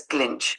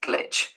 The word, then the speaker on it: glitch: tips for cognitive glitch you pronounced it as glinch it should be glitch mistaken it was good